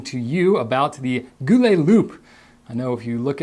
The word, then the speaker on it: Loupe: you about the goule loop I know if you look at how it's spelled it looks like it's goule Lupe but no it's pronounced Loop uh and it's a